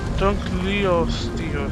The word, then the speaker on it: Dunkleosteus: Dunkleosteus.